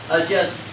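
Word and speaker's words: adjust: एडजस्ट, ए डी जे यू एस टी इज एडजस्ट, नॉट एडजस्ट, D silent है उसमें।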